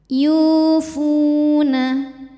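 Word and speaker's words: يوفون: auzubillahiminasyaitanirjim bismillahirrahmanirahim yufuna Yu hukum tajwidnya adalah Mad thiiri sebab ada W sukun didahului harakat damah cara bacanya dipanjangkan dua harakat yufu Fu hukum tajwidnya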